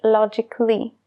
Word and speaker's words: logically: la a logical pero con el sufijo es logically ya no se pronuncia esa a logically logical logic lo